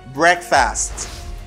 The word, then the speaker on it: breakfast: by example again marquez breakfast breakfast i don't say break i say break break egg wreck breakfast breakfast i have to